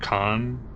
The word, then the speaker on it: Khan: Dr. Khan, I think is actually the correct pronunciation of that one.